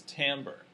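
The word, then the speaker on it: timbre: stimulus so what is tamber and what are the characteristics of complex tones and how do these characteristics determine T why is it not pronounced Timber like it looks yeah it's the quality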